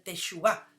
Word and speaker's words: teshuvá: Esta semana estamos compartiendo una prédica que se llama El poder del arrepentimiento o del Teshuvá, como se pronuncia en hebreo.